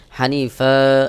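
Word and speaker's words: حنيفا: দুই জবর ফান হানিফা এখানে আমি যদি ওয়াকফ করি তাহলে হানিফা এক জবর উচ্চারণ করে এক আলিফ টান দিতে হবে এটাকে মাদ্দেওয়াজ বলে কুলবাল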